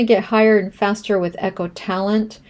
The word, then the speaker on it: EchoTalent: So, because my first language is Spanish and not English and we do not pronounce the letter H in Spanish, I did mispronounce echotalent to ecoalent.